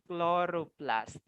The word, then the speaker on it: chloroplast: Chloroplast. Again, this is pronounced chloroplast.